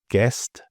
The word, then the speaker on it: guest: So the U is really just there for spelling and clarity. It's not for speaking, as these examples show. So guess, guitar, guard, guest, and biscuit.